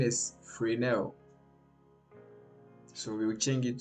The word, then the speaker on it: Fresnel: The pronunciation is Fresnel.